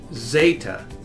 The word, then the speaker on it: zeta: And they call the letter zeta.